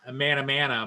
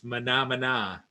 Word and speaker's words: Mahna Mahna: in a manner yeah a lot of people pronounce it as a mana mana but it's not it's Mahna Mahna from the old Muppet days and we can